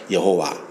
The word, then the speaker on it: 여호와: 방점을 갖다 붙이는데이 YH는 뭐라 붙일지 모르는 거예요. 발음이 안 되니까. 그래서 아도나이에 불렀던 그 복음 아오와이 아오아이를 Y의 지터블 붙여 가지고 발언한게 여호와 또는 야외 이렇게 한 것입니다. 정확한게 아니에요.